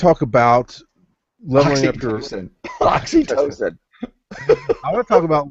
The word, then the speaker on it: oxytocin: Oxytocin.